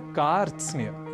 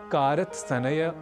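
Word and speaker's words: कार्त्स्न्य: शब्द है बहुत विशेष क्योंकि यहां र त स न य यह पांच व्यंजन वर्ण एक साथ संयुक्त स्वरूप में है इसलिए शब्द का उच्चारण हम सर्वथा शुद्ध करें इसका हमें विशेष प्रयास करना है और इसे कारत सनेय कारत स्नेह आदि न कहकर हमें कहना है कार्स तो यह साधारण संयुक्ताक्षर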